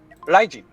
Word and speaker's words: Raijin: The result of this noise is an R that sounds a little bit like an L. And this is officially how you pronounce the RD in my name.